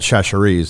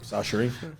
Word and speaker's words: Chachere's: I've sold it for like 40 years, and I used to call it Sacheries. Now I'm told it's just S-A, Sacheries. Sachery.